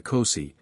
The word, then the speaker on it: Kosi: In this form, the spirit is called Kosi, sometimes pronounced Kos.